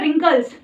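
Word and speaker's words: wrinkles: चेहरे पे सिकुड़न आती है तो उसको बोलते हैं रिंकल्स, WRI। उसमें W क्या होता है? साइलेंट होता है।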